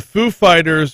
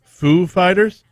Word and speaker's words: Foo Fighters: the show and says is there any special way y'all pronounce this name the name of the band is it foo fighters and dave grohl knowing how christopher walker speaks says no you've got to put the emphasis on fight and fighters that's it